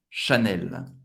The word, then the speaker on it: Chanel: CH tem o som do Sh. Chanel. Agora, você não vai pronunciar como, lembrando, Chanel, CH, você vai parar Sh.